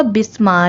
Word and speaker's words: Basma: अक्सर आपने सुना होगा बिस्मा, लेकिन बसमा नाम भी रखा जाता है, जिसकी स्पेलिंग है BASMA, बसमा, जिसके मायने हैं हंसने वाली, मुस्कुराने वाली, मुस्कुराहट।